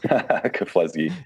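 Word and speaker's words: Keflezighi: helped Meb, and you're going to have to pronounce this guy's last name for me. Kafleski. Kafleski.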